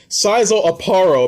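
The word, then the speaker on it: Szayelaporro: I can't even call him Sizel Aparo, but Sizel Aparo, apparently that's how you pronounce his name, in Bleach.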